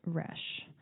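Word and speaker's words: Resch: by evelyn tripoli and elise resh i believe is how you say her last name but they're both dietitians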